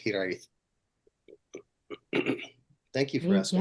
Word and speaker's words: Hiraeth: But yeah, and that's how you pronounce it, Hiraeth.